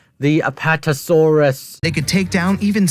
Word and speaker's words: Apatosaurus: no not bright sides way of pronouncing the Apatosaurus they could take down even such colossal creatures as aetosaurus but scientists I hate that mispronunciation bro why do they call that aetosaurus